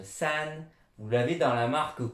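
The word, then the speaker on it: 三: Bon, sachez simplement que vous l'avez, comme ça se prononce san, vous l'avez dans la marque coréenne, très très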